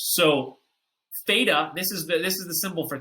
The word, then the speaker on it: theta: It's pronounced theta.